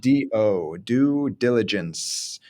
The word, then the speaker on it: due diligence: understood it and so even though it's spelled due do diligence it's like do due diligence and that ce's got